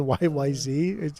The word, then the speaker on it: YYZ: when everybody finally comes it's actually not pronounced y YZ either it's YY Z apparently um stupid uh dude